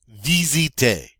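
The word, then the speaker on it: visiter: we say to find vzj dzj notice the S here has a Z sound it's between two vowels vzj and you guessed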